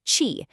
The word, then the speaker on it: Qi: That's called Qi, pronounced Qi.